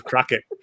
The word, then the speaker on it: Croquette: But Crockett was taken, so I was Croquette with a Q. But my pronunciation was Crockett, so it was Crockett and Tubbs.